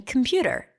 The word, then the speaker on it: computer: because he said that there is an O in computer and I said no there isn't and he said yes I can hear it when you say it here say it and I say computer I said there it is you just said an O and I said no I didn't computer there's an O